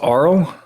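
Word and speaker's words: Arle: NAA from puy puyo I think it's just ARL I have to fact check you on there horse cat did not use the pronunciation field in the character editor well that's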